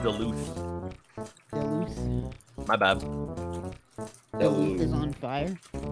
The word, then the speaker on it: Duluth: be able to hear it oh it's pronounced duluth my bad is on fire oh lauren hello